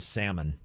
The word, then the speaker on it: salmon: once dumped a guy for pronouncing the l and salmon yes i would like to have your royal salman salmon people do say that some people do say the salmon if you're if you're